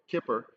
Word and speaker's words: Kippur: Hashanah we've gone through Yom Kippur Kipper as it's uh more accurately pronounced and now we're at